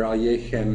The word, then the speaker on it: Alekhine: But for our purposes when he moved to France in 1921 he wrote his name as Alexander Alen which is the way we will um try to pronounce it.